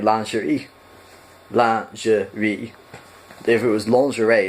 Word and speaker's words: lingerie: And that word is, in American pronunciation, lingerie. That is nowhere near how it's pronounced in French. It's actually more like lingerie.